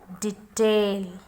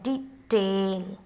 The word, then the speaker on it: detail: One more word I have, detail. D, because stress is here. Detail. Detail.